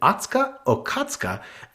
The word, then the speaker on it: Atsuko Okatsuka: to tongue-popping Drag Race legend Alyssa Edwards, comedian Atsuka Okatsuka, guest judges. And go me for pronouncing it correctly. Yes, I love Atsuka. Amen. Atsuko Okatsuka.